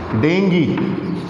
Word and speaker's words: dengue: become the cause of serious diseases that is dengi d-e-n-g-u-e it's not dengue it's staying clear in